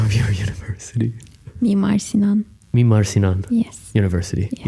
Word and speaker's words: Mimar Sinan: did you experience the community in, I can't pronounce the name of your university. Mimar Sinan.